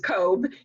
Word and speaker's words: Koob: Koob? It's Ms. My mother was Mrs. Cobb, and it rhymes with robe.